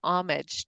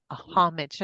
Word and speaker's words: homage: Part of See, it, I think, is like an homage to our past, right? Or a homage. Sorry, I was Frenching, not pronouncing my H.